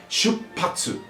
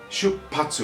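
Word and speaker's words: 出発: E nessa palavra ele existe um ajuste de pronúncia que é muito comum nas palavras em japonês, quando você junta kanjis, que ele, em vez de hatsu, ele vira patsu, né?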